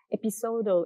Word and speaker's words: Episodo: Episodo is a Japanese pronunciation for episodes, and the ROX Media Collective like the pronunciation of Japanese people says episodo, and so we changed a little bit, slightly different with the O. It's a longer O, and this episodo started before the exhibition.